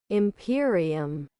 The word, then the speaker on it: Imperium: Imperium.